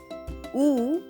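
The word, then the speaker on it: ऊ: word cool so ooh is pronounced as double O in the word cool whereas is pronounced as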